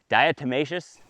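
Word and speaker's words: diatomaceous: How do you dietmacous? Dietmacious.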